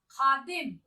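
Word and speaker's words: ख़ादिम: ख में नुक्ते की साउंड या उच्चारण आना चाहिए। खुशबू, खुशबू। खादिम, खादिम बोलेंगे नहीं, खादिम।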